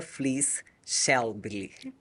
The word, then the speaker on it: Flies Schelbli: da edição 2022, Flies Schelbli. Sejam bem-vindos. Obrigada. Obrigado. Falei corretamente? Falou. Passei perto. É. Como pronuncia, por favor, o seu sobrenome? É Flies Schelbli. Flies Schelbli. Isso.